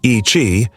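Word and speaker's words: Yi qi: Number 15, Yei. In 2015, paleontologists announced a discovery so bizarre that it seemed like something from a fantasy novel. A small dinosaur with bat-like wings. Yi, pronounced Ichi, means strange wing in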